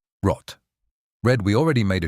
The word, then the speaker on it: rot: And R, not an English r. It comes from the back of the throat, almost like a soft gargle. rot Red, we already made a short video about 10 colors in German.